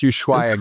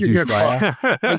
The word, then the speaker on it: Ushuaia: Because like Travis had mentioned, you're in an already like a collegially or a collegially you're It's in pronounced Ushuaia, guys. Ushuaia.